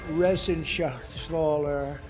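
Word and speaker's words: Reschenthaler: shaal you know that resen Sher he's uh that's actually the way you pronounce it you know nobody else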